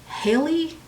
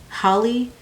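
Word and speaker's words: Halle: of all you have Haley Holly Haley Haley right I think it's Haley I always get confused on how to pronounce her name because it's spelled like Holly but I think it's Haley so you have Haley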